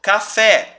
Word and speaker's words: café: sílabas tônicas ou seja café qual a tônica é o fé a última ou seja ela é uma oxítona rapaz Qual que é